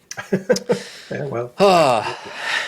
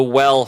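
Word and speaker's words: W3LL: time looking at the well fishing kit now well is spelled W3 LL I believe I'm saying it right you'll have to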